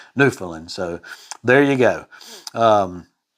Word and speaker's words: Newfoundland: joked on for that so it's newfoundland so there you go